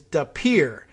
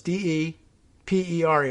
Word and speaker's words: De Pere: guess of uh well the connect the correct pronunciation apparently locally is de pere d-e-p-e-r-e two words d-e-p-e-r-e and i thought that might be de pere